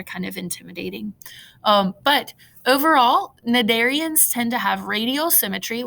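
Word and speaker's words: Cnidarians: jellies and anemones is nadarians so the c is silent there it's pronounced nadarians so you see anemones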